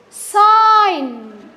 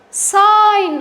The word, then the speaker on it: sign: design J is silent sign sign also the J is silent no no J sorry not j g is silent g is silent okay